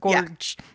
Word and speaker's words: Georg: Johan George fa except it's not pronounced George because it's German it's like however they pronounce it Gorge who like maybe was